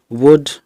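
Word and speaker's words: would: Second हम इसमें लेते हैं एल के बाद डी होने पर कुछ शब्दों में एल जो है वो साइलेंट रहता है। जैसे वुड, कुड, शुड।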